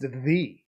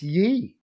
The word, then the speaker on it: ye: It would be pronounced the, not ye. The Y is a different letter and is a TH sound.